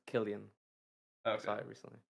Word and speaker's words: Cillian: I or sorry, not Cillian Murphy, I think. I think that's how you I pronounce think it. it's pronounced Killian.